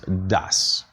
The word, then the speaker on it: does: very clearly do and the other word is pronounced das you have to make sure that you pronounce the word s at the end of the word das so the pronunciation is